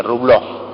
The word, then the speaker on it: Rublev: Rublev se escribe, Rublov.